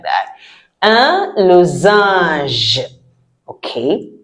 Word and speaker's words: losange: Un losange. Okay. A N sounds ah, and the G E sounds j. That is why I always say, learn to pronounce it before you see it.